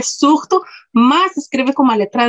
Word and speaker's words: zurdo: Tem uma palavra que em português escreve com S, surdo, em espanhol com Z, zurdo, mas a pronúncia é igual, surdo.